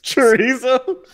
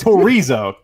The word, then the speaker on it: Torizo: Chorizo. That's my favorite Taco Bell item. It's Torizo. Torizo. Yeah, not chorizo. Not chorizo.